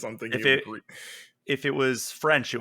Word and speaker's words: Gris: Do we pronounce it Greece? I've always Yeah, said. because it is it's the Spanish pronunciation because the Oh, studio is based in okay.